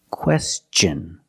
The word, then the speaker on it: question: It's pronounced with the ch sound, the hard ch sound like chicken and change. With words like this, question.